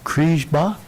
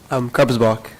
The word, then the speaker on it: Krebsbach: A new representative, Mr. Jacob Kriesbach, is that how you say it? Krebsbach. Krebsbach, thank you very much.